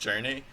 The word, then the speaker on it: jrne: This game, I don't have a name for it, but I'm calling it jrne, pronounced journey, because it's about a quest.